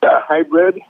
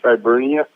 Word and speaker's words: Hibernia: Hybrid. Instead of hybrid, it's Hibernia.